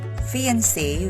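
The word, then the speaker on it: fiancé: folk rhymes with poke fiance with one e which means male engaged to be married and fiance with two letter e's which means female engaged to be married are both pronounced as fiance for words bath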